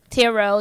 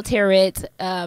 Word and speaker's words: tarot: creepy tarot turrets I always feel like I said it wrong I saw a turret but I guess it's Tarot but in here we got